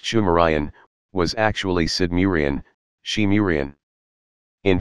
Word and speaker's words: Sumerian: It is also reckoned that the subsequent culture of the region, phonetically called Sumerian, pronounced Shumerian, was actually Sidmurian, Shimurian.